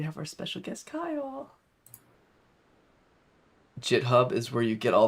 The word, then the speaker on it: GitHub: but i feel like github no it's jit hub yeah exactly right so